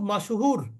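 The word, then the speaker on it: مشهور: দেখেন মাশহুরুন লোকটা খুব মাশহুর আমরা তো মাশুর কেউ বলে না বলে কি লোকটি খুব মশহুর মশহুর আসলে কিন্তু শব্দটা কি মাশুর মাশহুর মাশহুর শব্দের অর্থ হচ্ছে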